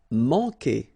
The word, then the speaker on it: manquer: Manquer. Okay, remember when we get this Q, after that automatically we get this U, but then we don't pronounce the U, okay? So manquer. So it's really que.